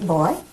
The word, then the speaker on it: boy: And you don't say boy, you say boy. When it's properly said, it's a two-syllable word.